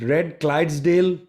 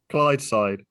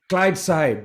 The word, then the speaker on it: Clydeside: Well, isn't it Red Clydesdale? Is that how you say it? Clydeside. Clydeside, yes.